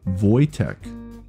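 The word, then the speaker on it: Wojtek: a grizzly bear soldier named Wtech Vo Voytech. Oh, thank you Spacefield for putting the proper pronunciation in brackets for me.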